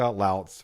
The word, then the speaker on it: Lautz: Lz rhymes with shouts I've been told.